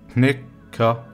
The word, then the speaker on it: knækker: Next one is knækker, knækker, knækker. The last word is næppe, næppe, næppe, næppe. And the whole sentence again. Kæmpe, kæppe, knækker, næppe.